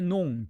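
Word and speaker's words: noms: s가 있다 해도 프랑스어 발음은 달라지지 않아요. 마지막 자음은 발음하지 않으니까.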